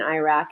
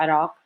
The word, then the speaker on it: Iraq: I'm not saying Iran and Iraq. It's Iran and Iraq, or Iraq. But anyway, try to pronounce them closer. You do your best to how they're actually pronounced.